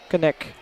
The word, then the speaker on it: Knick: Apparently you pronounce that Knick.